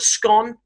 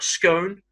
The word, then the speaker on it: scone: It's called a scone or a scone. And scone is pronounced in two very distinct ways by people in the UK, and there is no strict rule as to the location.